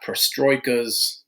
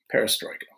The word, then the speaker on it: perestroika: it it's Russian but so if we get it right Gorbachev glass Knost perestroika okay I'm so Mikhail Gorbachev